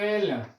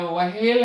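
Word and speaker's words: व्हेल: वेल ये प्यारे बच्चों यह वेल नहीं है यह वहेल है उच्चारण ही करके देख लीजिए अर्थात यह रूप सही होता है यह गलत माना जाता है यह गलत रूप है ठीक ना क्यों क्योंकि वेल तो ये है क्योंकि ह का उच्चारण पहले होना चाहिए यहां तो व का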